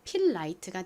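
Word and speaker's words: Filite: 여기서 I는 E 어 소리 중 I 소리로 쓰였어요. T는 티 소리트 소리가 나고요. E는 헛깨비로 소리가 나지 않습니다. 그래서 연결하면 필라이트가 되죠.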